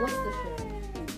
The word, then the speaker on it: Worcestershire: Worcestershire. Walang ano, walang R. Worcestershire. Worcestershire. First syllable stress.